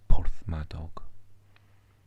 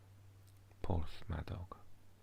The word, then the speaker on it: Porthmadog: And Cricieth is close by, and bigger area is Porthmadog. Porthmadog.